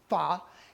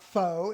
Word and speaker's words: pho: A few weeks ago, I was out having fa. And if you know what fa is, it's not fo, it's fa. It's kind of like saying duh, but fa.